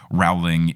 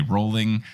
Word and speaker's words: Rowling: to the point where if I say Rowling incorrectly I will retake it on the audio where before us just whatever but now now you know I'm a true Harry Potter fan because I say rolling and I'm good well